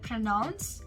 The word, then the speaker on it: pronounce: this word pronounce pronouns it is said pronounce in both the british pronunciation and the american pronunciation so it is pronounce